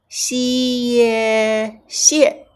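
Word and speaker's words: xiè xie: Then, xie xie. So, fourth tone you have to hit it, right?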